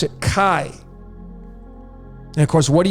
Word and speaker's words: chi: And why I'm saying that is because this letter in the Greek is called chi. That's how you pronounce it, chi.